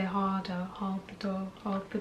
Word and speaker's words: Hodo: But you need to say Hardo and not Hodo.